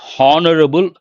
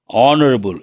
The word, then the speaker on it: honorable: Not honorable, honorable. H is silent.